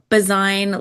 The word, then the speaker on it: Bazuin: Oh, it's uh Bazine like design. Bazine.